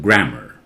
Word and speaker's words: grammar: and American English is called grammar and a are at the end is pronounced earn or so that a takes the sound of schwa a how do you